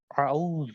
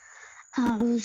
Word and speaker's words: اعوذ: اور اعوذ غلط ہے بلکہ اعوذ, اعوذ صحیح ہے.